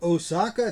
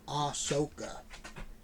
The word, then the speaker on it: Ahsoka: We have Osaka Tano. Or Ahsoka. Yeah. Some people pronounce it differently. I'm pretty sure it's Ahsoka.